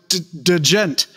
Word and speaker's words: djent: They could be anywhere from prog to djent. So, yeah, I'm pronouncing both those letters. Djent. There should be umlauts over the J.